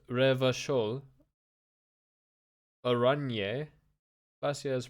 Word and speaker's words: Revachol: Pronounced Revachol.